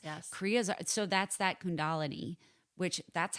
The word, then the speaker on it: Kundalini: So that's that Kundalini, which that's how I always thought it was called Kundalini, but it's called Kundalini.